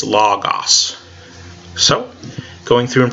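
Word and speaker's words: λόγος: us log us now you guys would be used to pronounce and get as logos because that's the name of the course but that's the modern Greek pronunciation and I asked me in Greek it's log-off's so going through and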